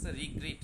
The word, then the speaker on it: regret: হচ্ছে আফসোস করা যেটা রিগ্রেট রিগ্রেট রিগ্রেটেড্রেটেড উচ্চারণ কিন্তু রিগ্রেট নয়্রেট উচ্চারণে একটা আলাদা ওয়ার্ড আছে আরেট যার অর্থ হল মহান তাই না আর এটাকে আমরা বলতেছি গ্রিট অর্থাৎ রিগ্রিট রিগ্রিটেড রিগ্রিটেড ওকে নেক্সট ধন্যবাদ